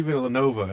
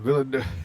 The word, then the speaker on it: Villeneuve: Yeah, and I was No, like, Villeneuve, there is no A in there.